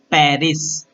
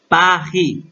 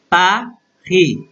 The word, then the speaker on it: Paris: We called in English like Paris. Okay, Paris. But in French, Paris, Paris, Paris.